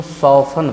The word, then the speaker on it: soften: उसी तरह से SOFTEN है तो हम लोग इसको सॉफन पढ़ेंगे।